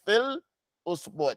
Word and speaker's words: في الأسبوع: Don't say full, because you can't say fi. You can't get out the kasra and your lips are forward. It's going to mess up your pronunciation. Brothers and sisters online, do you understand what I'm saying? Don't move your lips forward until you get to the hamza. When you're pronouncing that lamb, don't rush and put your lips forward, rushing. No, take your time.